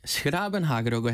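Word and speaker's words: 's-Gravenhage: 그는 영우식 이름인데 네덜란도로는 덴하그라고 하는데네 소료는 도시 이름은 스라은하라고 해요. 헷갈리시죠? 예. 헷갈리시죠? 아마 발음이 좀 어려워서 그렇게 된 거 같아요.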